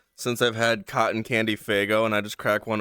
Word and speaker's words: Faygo: Is it Faygo or Fayo? Faygo. Faygo. Faygo. Faygo. I heard that the G is silent. That would sound really stupid. I really hope not.